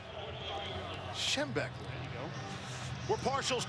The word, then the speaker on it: Schembechler: Schembechler.